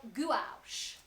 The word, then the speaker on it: gouache: This is called gouache. Yeah. Gouache. Let Let me tell you about gouache. gouache. It's called gouache. It's spelled Gouachequea.